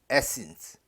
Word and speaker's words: Athens: 읽었죠 자 의미는 아테네입니다 영어 발음은 강세가 앞에 있어 가지고 에센스 아테네로 대적하고 그리고 그